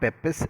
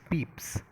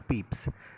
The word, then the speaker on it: Pepys: diary of samuel peeps it's not peppis actually it's peeps susan i mean it's been pronounced as peeps so samuel peeps is